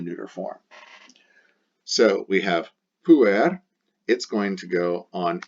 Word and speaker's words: pueri: Because the genitive ends in the letter I, pronounced E, pueri, we know it is a second declension, and it's a second declension masculine.